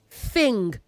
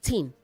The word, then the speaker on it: thing: earth not it earth say thing not teen a teen holds beverage like a tin of milk.